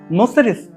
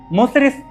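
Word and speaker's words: മുസിരിസ്: നഗരം മുച്ചിരി പട്ടണം എന്നറിയപ്പെട്ടത് ഗ്രീക്കുകാരും മറ്റു പാശ്ചാത്യരും ഇവിടേക്ക് എത്തിയപ്പോൾ മുച്ചിരി പട്ടണം അവരുടെ ഉച്ചാരണത്തിൽ മുസ്രിസ് ആയി മാറി എന്നതാണ് ആ വ്യാഖ്യാനം അറബിക്കടലിലേക്കുള്ള സുരക്ഷിതവും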